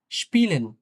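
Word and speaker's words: spielen: তো ই এর পরে যদি এরকম এ থাকে কখনো, যেমন এটা ক্ষেত্রে কিন্তু উচ্চারণটা ইয়ে হয় অনেকটা, ইয়ে। কিছুটা টান দিয়ে ইয়ে হয়। একটু লম্বা করে, হ্যাঁ? ইয়ে। যেমন স্পিলেন, স্পিলেন, হ্যাঁ?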